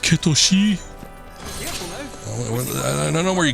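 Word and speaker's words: Cait Sith: some other time I was uh referring to Kate Sith said his name and somebody was like um actually it's pronounced kosi I don't know where you get that I'm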